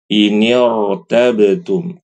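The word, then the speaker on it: إِنِ ارْتَبْتُمْ: tetap rnya dibaca tebal Jangan dibaca inirtabtum tipis tidak inirtabtum tebal warkau warkau tebal Amir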